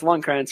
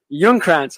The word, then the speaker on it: Ljungkrantz: I think it's Lundkrantz, right? Ljungkrantz. Okay, there you go.